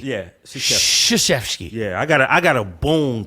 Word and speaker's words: Krzyzewski: Coach Krzyzewski, you call it Krr. It's sh. Is it Krzyzewski? Yeah, the K is silent. Says who? English law, right? Krzyzewski. Yeah, Krzyzewski.